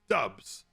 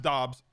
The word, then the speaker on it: Dobbs: bad to be in pennsylvania damn it romeo dubs i know his name is pronounced dobbs no disrespect but i want the big dubs